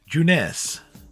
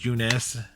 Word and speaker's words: Junes: suburbs the sign says juness no I know it says June's but it's pronounced juness store three days I